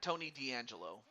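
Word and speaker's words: Tony DeAngelo: even say it it was niches and now Tony D'Angelo uh no relation to I think it was uh Tony D'Angelo from NXT or or the WWE I should say nope different Tony D'Angelo or was it Tony Angelo I'm not sure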